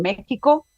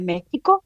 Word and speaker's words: México: la versión oral del nombre de México escrito con x pero pronunciado con j ilustrando la contradicción nunca